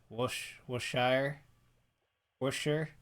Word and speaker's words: Worcestershire: this uh Sunday evening there's the Shire sauce pronounced washer for sure uh it's pads this city is is Worcestershire guy sure who's to share Worcestershire I'm calling